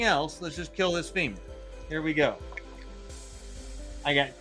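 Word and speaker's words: Fimir: Spud says femur is the only correct name for it. I agree. I agree. We had a long discussion on one of the games about what actually is the proper pronunciation of F-I-M-I-R, but we have always said femur for decades and decades, so I don't plan on stopping that now.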